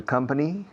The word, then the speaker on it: company: I joined the company. No digáis company. Company rima con la palabra venir.